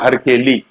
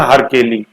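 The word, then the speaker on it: हरकेलि: संस्कृत नाटक लिखा हरकेली, है ना, हरकेली, ये जैसे ये हरी केली भी कहीं अपन देखते हैं, हरी केली वो गलत प्रोनाउंसिएशन है, हर केली, हर है केली, और हर कौन है, हर शिव है, हर हर महादेव, बम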